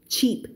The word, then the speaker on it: cheap: isn't Cheap Cheap Cheap อย่า ไป ออก เสียง Sheep นะ เสียง ไม่ เหมือน กัน ch เสียง ข้าง หน้า นะ คะ มัน จะ ค่อน ข้าง เสียง ตัด ฉ ฉ ฉ Sheep แต่ ว่า ถ้า เป็น s เสียง มัน จะ ลม เยอะ